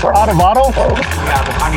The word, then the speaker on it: adovada: The meat in the number 2, is it pronounced adovada? Yeah, the carne adovada.